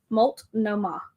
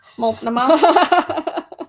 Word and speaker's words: Multnomah: Multnomah. Oh, she said I said it right. Multnomah.